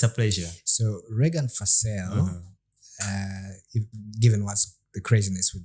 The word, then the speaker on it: Fasel: Did I pronounce that right? Fasel? Regan Fasel. Fasel.